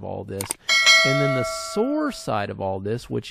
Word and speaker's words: SOAR: it all right um and there is also sore which is security orchestration Automation and response all